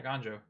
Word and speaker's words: Eiganjo: One of those going to Eiganjo, seat of the. I think I said it right. Is it Eiganjo? Yeah, Eiganjo.